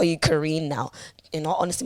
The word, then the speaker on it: Karine: now you know honestly my name actually is pronounced Korean you know what I mean but growing up I didn't actually know the proper pronunciation like as weird as it sounds but that was my dad's fault it's actually pronounced Korean so when people meet me even I was here my teachers would read out Korean I'm like no it's Karen but that's not how it's pronounced but I'm not for